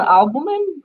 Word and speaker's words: albumin: If you are using how do you pronounce it? I don't know, albumin.